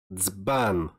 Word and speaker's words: dzban: Next is the combination of D and Z, and you should pronounce it as dz, dz, like dzban, dzban.